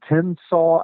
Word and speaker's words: Tensaw: state historic sites in tennsaw alabama that's spelled t-e-n-s-a-w just like it sounds it's just north of